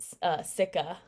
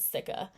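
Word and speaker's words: cica: um zinc pca and sikka i believe that's how you pronounce it sikka um i really like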